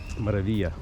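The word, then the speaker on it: Maravilla: Вилла Маравилла. Маравия. Я все забываю, что 2 Л не читается.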